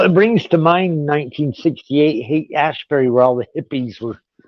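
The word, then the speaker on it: Haight-Ashbury: I'm pronouncing this right the ass Berry movement very Revival that's the hate Ashbury it's called hate Ashbury in San Francisco this is actually different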